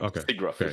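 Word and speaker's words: SIGGRAPH: Actually, am I pronouncing that right? Just Yeah. Yeah. Yeah. That's right. Stigraph.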